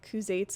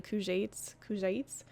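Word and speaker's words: Kuzaits: Also shows some of the pronunciation mistakes I'd been doing, like Kuzates are actually Kujates.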